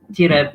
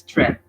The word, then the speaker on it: trip: Don't read tirab, it's trip.